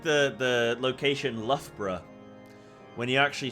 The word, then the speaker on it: Loughborough: yeah it's like it's like the the location Loughborough when you actually spell that word it does not say Loughborough it says oh God there's a funny quote of somebody saying love bro and they say luga baruga instead of Loughborough which Loughborough by the